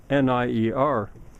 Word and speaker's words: Soulnier: is French Canadian, and it's spelled Soulnier, but it sounds, Soulnier, it sounds so much like salonier.